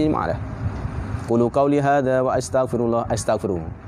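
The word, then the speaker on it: وأستغفر: Qulu qauli hadza wa astaghfiru. Bukan wastaghfiru, hamzah mutakallim, hamzah qata. Wa astaghfiru bukan wastaghfiru. Kalau istaghfara, kalau fi'il madi bacanya wastaghfara, ini wa astaghfiru fi'il mudhari'.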